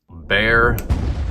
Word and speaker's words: Bexar: on the tactile knifeco bear slip joint this is spelled b-e-x-a-r but it is pronounced bear it is a county